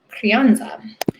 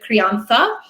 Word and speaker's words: crianza: Technically, if I were pronouncing this correctly by Spanish standards, I would be lisping and I would say the Crianza.